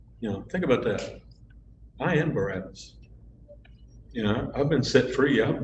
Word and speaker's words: Barabbas: Barabbas parallels our story.